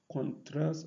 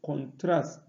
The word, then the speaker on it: contrast: Moreover, there are some English words that are stressed on the first syllable when used as noun, and on the second when used as verb.